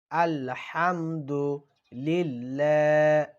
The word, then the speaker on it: আলহামদুলিল্লাহি: শক্ত করে উচ্চারণ করবেন আলহামদু লিল্লাহ অনেকেই বলে লিল্লাহ লিল্লাহ না লিল্লাহ হাজেরি লিল্লাহি আলহামদুলিল্লাহি এখানে অনেকে বলে আলে এখানে কেউ আলে বলবেন না স্পষ্ট করে বলবেন আলহামদুলিল্লাহি রব্বিল রাব্বিল